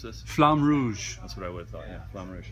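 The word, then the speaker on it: Flamme Rouge: do I pronounce this flam Rouge that's what I would summarize it looks really cool if you're pretentious you can say roll your R you'll flan woosh but from stronghold games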